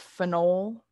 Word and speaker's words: phenol: So a little bit of pronunciation difference here. This is phenyl. That's phenol.